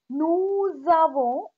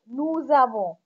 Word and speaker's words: nous avons: Nous avons, here we made the liaison. When s is followed by a vowel, s is pronounced as the. Nous avons, we have.